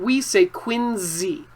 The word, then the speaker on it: Quincy: quincy market once again if you trust your eyes too much you might say it wrong this looks like quincy market but in boston we say quincy it sounds like a z so copy what you hear not what you see quincy market okay and